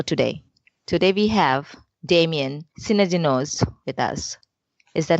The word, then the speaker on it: Synadinos: Today we have Damian Synadinos with us.